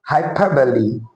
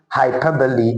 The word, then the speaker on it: hyperbole: The word is actually hyperbole and not hyperbole. The letter E is actually not silent.